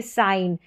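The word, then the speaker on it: sign: जैसे साइन न इसलिए क्योंकि एन का उच्चारण हो रहा है और जी यहां पर साइलेंट है।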